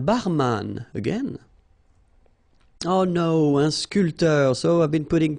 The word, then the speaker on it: sculpteur: not that difficult, un sculpteur, un sportif, un peintre, un photographe, un journaliste. All right, so un barman, un sculpteur. Same thing here. This P here is not pronounced.